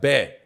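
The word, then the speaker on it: 배: She's like, bear.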